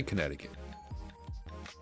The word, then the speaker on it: Connecticut: let's say let's say Connecticut let me just I got Google Maps here Los Angeles California crazy that Connecticut is spelled like connect it kit connect a cut Springfield the message messages